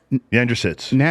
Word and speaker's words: Yandrasits: we'll go ahead and pronounce it for us andrew sits oh that's easy bless you so she